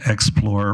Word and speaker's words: Xplor: not perfect mind now it's called it's called explore Recreation but it's spelled x p l o r Recreation okay and just curious